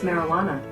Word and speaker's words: marijuana: Some of you may be happy to know that we have at this point only one English word in which the letter J is silent.